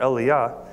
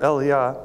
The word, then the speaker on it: Elijah: and John the Baptist I like to use a more break pronunciation of value just because Elijah sounds so much like Elisha to me and so here's some support for Elia being prophet of John